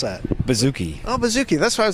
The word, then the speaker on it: bouzouki: Why the hell doesn't he know how to pronounce that? Bouzouki.